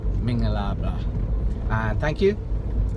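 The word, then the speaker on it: မင်္ဂလာပါ: Mingalaba. Mingalaba.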